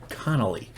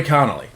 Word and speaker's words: Connolly: connolly connolly connolly i gotta say it right connolly billy connolly um he's been hard to uh do reaction